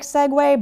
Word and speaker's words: segue: And the reason is that it comes from Italian and the verb seguire, which means to follow. So if you hear the way I say that, I don't even know Italian, but seguire is also similar to Spanish, right? It sounds like there is a W sound in there. Seguire, segue.